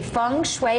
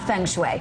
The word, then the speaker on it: feng shui: She is a feng shui expert. Not feng shui, feng shui. Yeah. Sorry. I mispronounced that earlier.